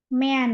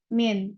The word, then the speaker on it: mean: X muxnya itu apa mean ya atau bahasanya yang benar bukan me Min bacanya Min atau rata-ratanya ya rata-ratanya